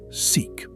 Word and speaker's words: SIC: The letters stand for Symmetric Informationally Complete Positive Operator Valued Measure, and physicists mercifully pronounce it "seek."